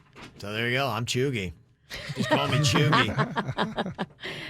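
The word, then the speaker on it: cheugy: make the most sense chugi chugi is correct wow bird that's awesome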